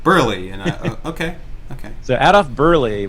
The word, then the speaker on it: Berle: I always said Adolf Berle. It's Burley. I was going to say Burley, actually.